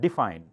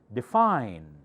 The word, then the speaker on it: define: certificate tea louder certificate define do not set define D does not have the accent fine has that define define he definition knee louder because